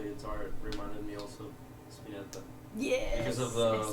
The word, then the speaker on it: Spinetta: Spinetta, it's kind of like an Italian last name. Okay. And yeah, if you, it's Spinetta.